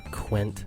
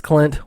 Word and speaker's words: Clint: Welcome, Quint. I can't even say my name right. It's Clint. Welcome to Sweetcast.